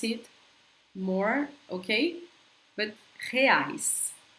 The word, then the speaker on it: reais: I'm going to pronounce it more, okay? But reais, reais, okay?